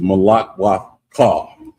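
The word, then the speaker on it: malakwathka: So, uh, next word is Malakwa call. Malakwa call. And it's spelled M A L A K W A T H K A.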